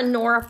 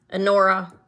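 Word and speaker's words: Honora: I have, these are Anora pearls.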